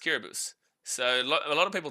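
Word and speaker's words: Kiribati: think I think he scores today it's like kabus right so K kbus is is spelled k i r i b a t i the country kbus but it's pronounced kbus so a lot of people don't actually know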